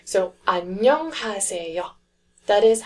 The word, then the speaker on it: 안녕하세요: The next syllable block is nyong, nyong. So we've got 안녕 so far. Then the third syllable block is ha, ha, 안녕 ha. And then we've got the fourth one, which is se, se, 안녕하세. and then the last syllable block is yo. Again, that one is starting with the silent consonant, so it's the yo sound only.